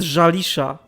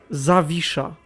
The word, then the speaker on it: Zawisza: It isn't Jalisha. Where the fuck is an L in there? What? How the fuck did you pronounce that from this? Jalisha, I think he pronounced it. Zawisza. It's not that hard, come on, man.